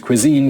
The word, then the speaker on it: cuisine: The stress is on the second syllable.